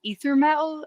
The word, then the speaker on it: Ether Metal: And it's called Ether Metal. Am I saying that right? You're saying it right.